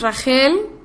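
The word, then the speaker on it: רחל: Y bueno, Raquel o Rachel, su nombre en hebreo en realidad es Rachel, así es como se escribe, Resh, Het, Lamed, y significa viajar u ovejita, así es como lo traducen en algunos diccionarios.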